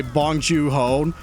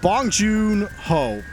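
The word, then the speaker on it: Bong Joon-ho: Like when the movie was over and it said it was directed by Bongju Ho, sorry, but Bong Jun Ho, I got to pronounce that correctly.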